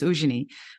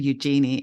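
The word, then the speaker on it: Eugénie: actually Eugenie, which is, my mum called me Eugenie in South Africa. But then I discovered actually the French pronunciation is Eugenie. But then I came to Australia and it just got bastardized to Eugenie, and to the point where I've now accepted the name Eugenie, and I just call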